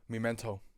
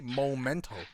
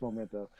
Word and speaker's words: Memento: Memento. Memento, yeah, Memento. I don't know. I was thinking something. Everybody's saying Memento. But isn't it Memento because it's M-E instead of M-O?